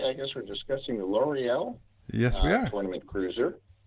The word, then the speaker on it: Loriyill: They actually put the pronunciation of the Empire in the rule book. It's Loriyill.